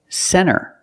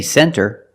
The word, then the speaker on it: center: When you see NT, a lot of times you don't hear the T. Example, center. Of course, you can say center, it's correct, but a lot of Americans will pronounce it center.